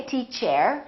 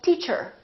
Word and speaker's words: teacher: to her or teacher don't they teach air say teacher she's a good teacher